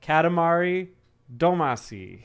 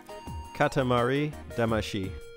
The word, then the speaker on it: Katamari Damacy: to say it teddy katamari damashi but it's not spelled like the way it should be pronounced in japanese so i understand why